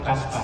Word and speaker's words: Kaspar: bukan Kasper, Kaspar. Niet Caspar de spook zeg maar Caspar.